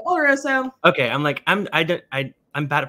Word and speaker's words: oloroso: I keep saying Oloroso. It's Oloroso, right? I've heard you pronounce it. Oloroso.